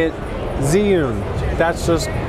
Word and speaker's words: Zhiyun: I say it Zhiyun. That's just how I pronounce it.